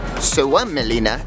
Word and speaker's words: Suomenlinna: Suomenlinna, as it's pronounced, is a UNESCO World Heritage Site that